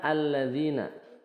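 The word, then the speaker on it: الَّذِينَ: misal hudallil muttaqinalladzina jadi Lil muttaqinalladzina bukan Lil muttaqina alladzina ya langsung ke lamnya Hamzah wasalnya tidak dibaca alladzina Ini Mad eh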